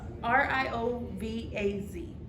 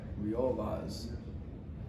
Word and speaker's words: Riovaz: RIOVAZ. Real Vaz. Yeah. I think that's how you pronounce it.